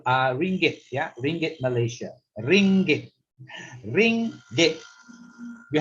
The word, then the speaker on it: ringgit: Okay, so it's a ring gate, ring plus the gate, so it's the ringgit. That's the sound.